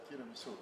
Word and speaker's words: tiramisu: Now, what I'd like to do again, could you pronounce tiramisu?